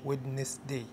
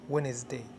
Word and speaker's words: Wednesday: بعد كده حرف D في Wednesday، حرف صامت لا ينطق. هنا لما اقول Wednesday ما اقولش Wednesday، بقول Wednesday.